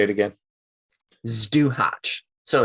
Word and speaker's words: Zduhać: Zduhać. So it's spelled ZDUHAC. Zduhać.